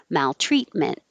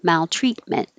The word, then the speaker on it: maltreatment: listen for the vowels maltreatment don't we don't release either of these t's hold them hold your tongue in the t position maltreatment absorb and for the